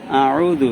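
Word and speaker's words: أَعُوذُ: আউযু এখানে আ গলার মাঝখান থেকে আ এরকম উচ্চারণ হবে, আর উ এটা আইন, এটা গলার মাঝখান থেকে চাপাই উচ্চারণ হবে। কুল আউযু, আয় কোনো টান নাই।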